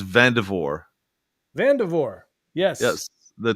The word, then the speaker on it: Vandervoort: little confused is it's vavor vavor yes yes the T the r the r is silent and the t is silent the first R is silent and the the final T is silent yes I knew I